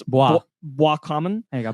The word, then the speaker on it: Boiscommun: I'm pretty sure because it's French, it's Boiscommun. There you go, Boiscommun.